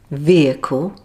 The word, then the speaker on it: vehicle: Here are a few more words with a silent H. Hour, honour, honest, exhausted, vehicle, and ghost.